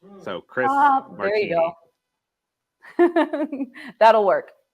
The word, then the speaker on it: Marchini: It doesn't offend me, but the correct pronunciation is Marchini. Marchini.